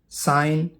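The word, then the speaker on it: sign: जी, जब जी के बाद एन आता है तो जी कभी कभी साइलेंट होता है। साइन निशान या दस्तखत, रेन शासनकाल को बोलते हैं।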